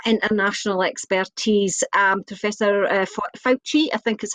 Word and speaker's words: Fauci: to bring that international expertise um professor uh fauci i think is how you pronounce some um he's the guy that that